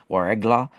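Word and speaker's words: Ouargla: they're called the the it's spelled w a r e g l a warla and they had light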